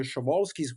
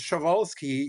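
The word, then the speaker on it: Przewalski: They were the ancestors of the 3,000 animal that we call the sholskis horses. So I don't pronounce the P but I don't know which of us is actually right here.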